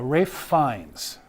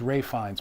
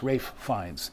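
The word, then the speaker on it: Ralph Fiennes: Uh, it's a Voldemort wand uh, used by um, uh, Rafe Fines. I always thought it was Ray Fines, but it's Ralph Fines, but it's Rafe Fines is how you pronounce it.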